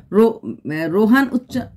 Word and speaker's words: রোহন: আমি জানি ওর নাম রোহন, এটা একটু যখন একটু উচ্চারণ করতে আসে তখন আমারটা এরকম হয়ে যায়, রোহান মনে হয়। অ্যাকচুয়ালি যখন তুমি হিন্দিতে থাকবে, হিন্দি জায়গায় থাকবে, তখন কিন্তু রোহন হয় না, তখন রোহানই বলতে লাগে, রোহান, হান, নট অন, এটা বাঙালিরা বলে।